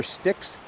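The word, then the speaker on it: Styx: actually called the river sticks they call it Branch sticks but it's spelled just like the river in the Underworld STX uh but lady you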